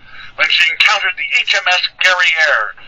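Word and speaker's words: Guerriere: she encountered the hms gary air which you'll notice actually rhymes with the word derriere which was in fact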